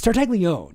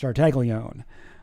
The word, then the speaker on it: Tartaglione: It's Tartaglione. It's not Tartaglione or Tartaglione or whatever. It's just Tartaglione. I heard him pronounce his own name.